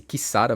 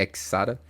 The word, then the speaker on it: Xsara: semana é do Citro que pronuncia-se Kara mesmo não é exara fica a curiosidade já também que o x na verdade aqui é um k e ele vai ser